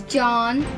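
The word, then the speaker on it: Jean: And and then there's John, which is spelled J E A N, French for John.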